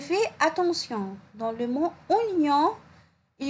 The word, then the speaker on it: oignon: Dans le mot oignon, il y en a O-I, mais je n'entends pas le son wa.